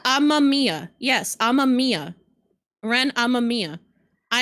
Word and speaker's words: Amamiya: How are you supposed to pronounce it? It's Amamiya. It's Amamiya.